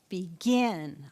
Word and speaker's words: begin: or two N so what are you going to think about where the accent falls right begin I'm going to have